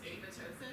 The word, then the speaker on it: apoptosis: I think I had a class in graduate school where apparently the second P is silent. Apoptosis. It's apoptosis.